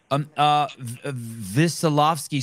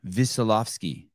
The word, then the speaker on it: Wesolowski: Wesolowski, so the W is pronounced with a V, Wesolowski. Wesolowski, yes.